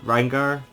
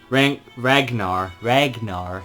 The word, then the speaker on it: Ragnar: So your first one is Rangar? I don't remember how you pronounce his name, but McRyan. He's Ragnar, that's it, McRyan, who he's kind of like a warrior sort of character.